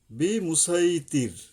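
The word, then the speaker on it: بِمُصَيْطِر: এখানে 22 নম্বরে পাবেন এখানে হলো কি সদ পড়তে হবে সিন নয় সদ সদ মানে কি জিহ্বার আগা নিচের দুই দাঁতের আগা এসে মিলবে এবং শীষ সহ মোটা ভাবে আদায় করতে হবে বিমুসাই বিমুসাইতির 22 নম্বর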